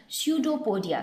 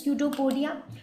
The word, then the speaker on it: pseudopodia: with the help of pseudopodia so the p is silent here what is pseudopodia pseudo what does the